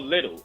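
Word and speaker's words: Lidl: So there's this store called Little. It's spelled Lil with apostrophe D.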